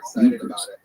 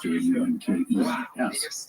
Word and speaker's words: Junkers: By the way, the plane's manufacturer was a German aviation company, Junkers. If you see the spelling, it looks like Junkers, Junkers, but it is pronounced Junkers.